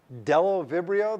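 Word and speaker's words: Bdellovibrio: ursinia anaerobacter pasteurella hemophilus delovibrio the b is not pronounced so far as i know campylobacter i don't know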